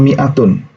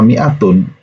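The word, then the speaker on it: مائة: Mere huzoor fall if dalam kata Miatun itu tidak diucapkan Nih Adik tidak diucapkan niat Miatun atau seperti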